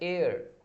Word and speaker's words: heir: Text book, वैसे ही अगर HEIR, इसका मतलब होता है वारिस होता है, इसका प्रोनाउंसिएशन ए अर होता है, एयर, एयर, तो यहाँ पे एन आ जाएगा, ऐसे टाइप से।